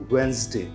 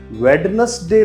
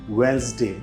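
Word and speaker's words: Wednesday: पूछे जाने वाला वर्ड है, इसको बोला जाता है वेंसडे। वेडनेसडे नहीं बोलते, इसे बोलेंगे हम वेंसडे।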